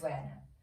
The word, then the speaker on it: Werner: inspired yoga class um often when I say his name I actually just want to say it in like an Africans accent Dylan Verner but um I think it's wner anyways this previous weekend I